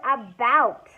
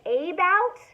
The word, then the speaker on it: about: correct it's the word about about do I say a bout no in English language we usually pronounce that about what about camra uh